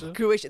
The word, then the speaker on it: Croatia: Croatia, that's how the locals say it, yes.